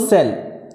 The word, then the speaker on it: cell: If C is followed by E, I or Y, the pronunciation of C will be S. For example, cell, C-E-L-L, and C is followed by E.